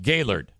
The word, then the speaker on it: Gaylord: It's spelled the same, but up here, the town is pronounced Gaylord. But if I were to walk into the Opryland Resort and Convention Center, I would not say Gaylord. I would say Gaylord.